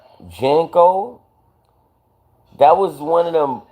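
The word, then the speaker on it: JNCO: Yo, you saying it wrong. I don't think it's Jeno, it's Jenko. Remember J A N C O Jenko?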